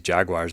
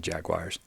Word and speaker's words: jaguar: pronounce it jaguar, and some people pronounce it jaguar. Jaguar. Yeah, I don't know. It sounds the same to me. Well, no, like jaguar to me sounds like Jerry Maguire. Jaguar sounds like a car.